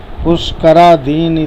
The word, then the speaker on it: पुष्करादीनि: पुष्करा दीन, दीन नहीं बोलेंगे, दीन ना में छोटी की पाई है इसलिए इसे दीन ही बोलेंगे।